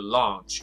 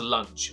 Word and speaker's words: launch: the way for the launch. Launch 这个词不是 lunch， lunch 是午餐， launch 就是发射的火箭，也叫做 launch。